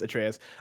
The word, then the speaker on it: Atreus: I was just gonna leave it there, but I have to let people know I do know his name is pronounced Atreus.